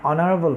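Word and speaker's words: honorable: এইচ এর উচ্চারণ আমরা করে অ্যান অনারেবল পার্সন আমরা ভাওয়াল সাউন্ড দিয়েছি, এইচ এর উচ্চারণ করে না।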